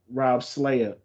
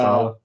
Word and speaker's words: Saleh: And there was a report earlier this week that their coach Rob Slayer, I think that's his name. I hope I said it right. Robert Uh, Saleh. Saleh, yes, Robert my bad.